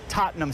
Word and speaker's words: Tottenham: the Giants and Packers were playing overseas at Tottenham Stadium a lot of Americans mispronounced Tottenham Stadium right Tottenham is Right Tottenham